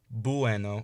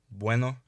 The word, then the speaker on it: bueno: every time you see a u or an i in front of another vowel imagine it as a w or a y so instead of saying bueno or bien say bueno en bien also remember